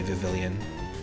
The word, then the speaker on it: Vivillon: So, Vivillon is how I like to pronounce this, but sometimes people say Vivillon, but Vivillon is kind of like before they...